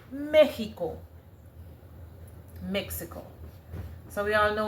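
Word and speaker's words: México: M E X I C O which is pronounced as you know Mexico and the accent is over the E right.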